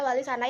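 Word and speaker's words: Walisana: berupa dengan kata terpuji, sehingga menurutnya pengucapan yang benar ada wali sana yang berarti wali-wali yang terpuji.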